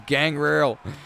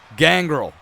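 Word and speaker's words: Gangrel: comes gang Rail and how do you say his name people always correct me but I say gang rail gang girl oh there goes Mr T so I'm giving you different versions of how to say gang girl he was part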